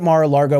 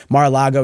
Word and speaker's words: Mar-a-Lago: That's why he's fled to Florida, where he can stay at Mar-a-Lago whenever the hell he wants. Mar-a-Lago, excuse me. I know people get mad at me when I say it wrong, and now it's become a nervous tick.